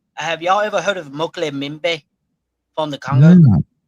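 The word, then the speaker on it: Mokele-mbembe: I think it's MOKO. Okay. Then it's MBE. Moko. Hold on. Okay, here we go. Mokele Mbembe. Yes.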